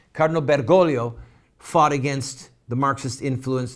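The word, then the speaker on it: Bergoglio: with the name again bolio I want to say the name right think the second g is silent Cardinal bergolo fought against the Marxist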